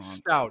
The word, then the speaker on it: Stout: Stout. It's like the It's beer. stout like the beer.